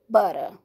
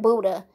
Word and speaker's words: Butter: who got locked up named Butter. Now I'm saying it right. I kept saying Buddha in the other video.